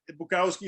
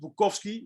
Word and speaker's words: Bukowski: No, to be honest, it's actually, his name is actually Bukowski. His name is pronounced Bukowski. It's a Polish name, but that's fine.